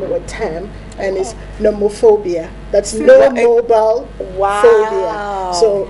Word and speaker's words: nomophobia: my mobile iophobia yes aop phobia do we pronounce it noro so noobob that's right so you're a nomophobia that's right wow that's what you're describing it's